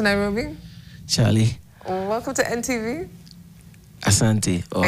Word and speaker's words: Asante: Asante, or how do you say it? Yes. Yeah, man. I was checking out you. Karibu, rather. It's Asante.